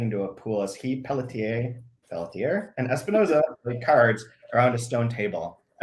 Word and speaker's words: Pelletier: I'm saying Pelletier because I'm from New Hampshire, and that's how we pronounce the French Canadian.